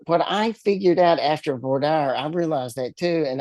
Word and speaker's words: voir dire: So, uh, as after voir dire, which is what we call it here, dire dire is how it's pronounced in on the East Coast.